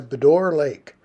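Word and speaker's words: Bras d'Or Lake: As we approach Waikokoma, where our campground was for the evening, we started going by Bedore Lake, which is a huge saltwater estuary there on Cape Breton Island.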